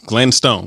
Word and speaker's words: Glenstone: Spell that again. G L E N S T O N E. Oh, Glenn Stone.